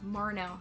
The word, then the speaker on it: Marnell: Yeah, Marnell, sorry, by Kat Marnell.